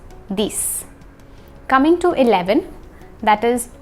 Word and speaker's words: dix: 10 is pronounced just like 6. So, six, dix.